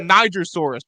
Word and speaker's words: Nigersaurus: You say that Nigersaurus, right? Yes. Okay. How to pronounce it?